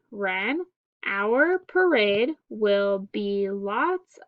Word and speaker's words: Wren: That's great, said Wren. Our parade will be lots of fun. Okay, next page we have silent W in the word wren and in the word wrapped.